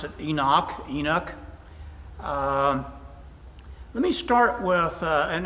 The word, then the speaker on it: Enoch: I pronounce it Enoch.